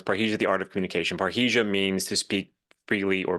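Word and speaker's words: parrhesia: a really good point so what what is paresia is that how you say it yes well it's paresia that was the name of the program I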